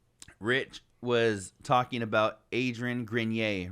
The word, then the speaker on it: Grenier: french or something right grenier it's just like or voir you know type of so it's grenier and rich was saying